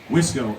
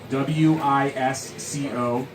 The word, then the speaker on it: Wisco: Wisco, WISCO, Wisco Weekly Podcast.